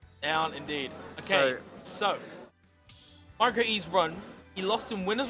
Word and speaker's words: MiCroE: going to see if MiCroE can go even further in this game too. I believe it's pronounced Micro, by the way, according to the chat.